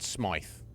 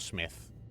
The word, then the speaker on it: Smythe: But I'm sure he said Smythe. And not Smith, I'm sure.